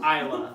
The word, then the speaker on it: Islay: This is, so when you talk about peat in Scotland, most famously you're talking about Islay. Islay looks like Islay or Islay, but it's spelled Islay, and it is famous for its peated whiskeys.